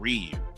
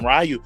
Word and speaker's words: Ryu: Like it's kind of like with with Rayu and Ryu. Like his name is like like some people call him Rayu or even with uh Super